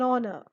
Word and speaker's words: honor: Then an heir, an honest man, an honor. I am not saying hour or hair or honest or honor. The H is silent in those words.